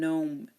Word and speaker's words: gnome: beginning of a word again we don't pronounce the G if it's followed by n in the beginning of a word there are you know